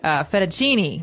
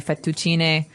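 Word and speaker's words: fettuccine: fetuin fet um in in American we say fetuccini fucini fucini Alfredo is a very common American Italian Dish but in Italian it would be fetuin so you might hear it differently and what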